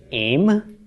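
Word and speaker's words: אֵם: for a feminine noun olive final mem with its era under the olives pronounced aim okay this means mother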